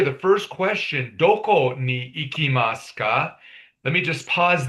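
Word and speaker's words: いきます: This phrase here, the first question, doko ni ikimasu ka? Let me just pause there. When I write it in Romanized form, iki, remember that I sound is pronounced as an E, ikimasu.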